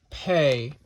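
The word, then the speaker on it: פּ: doing um you also have pay which makes the P sound with a DOT basically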